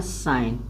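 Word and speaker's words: sign: जी को साइलेंट रखना है। एस आई जी एन है। इसको काना है साइन।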